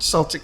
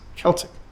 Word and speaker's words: Celtic: but I must stop that's not Celtic it's Celtic and how could I